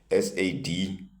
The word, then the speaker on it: said: This word s a d and s a i d both are pronounced as sad.